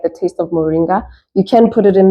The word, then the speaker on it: Moringa: okay turn it around um how do you pronounce this Moringa oh Moringa yes so Moringa is also a natural multivitamin